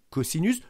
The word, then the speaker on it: cosinus: s'écrit cost ou simplement mais ça se lit caussinus le cosinus de cet